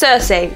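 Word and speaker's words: Circe: Is it Cersei? Cersei? Cersei. It's Cersei, okay. What experiments are the highly secretive and less than neighborly Loki and Cersei Beaker performing on poor nervous subject? Will this secrecy affect Cersei's career ambitions?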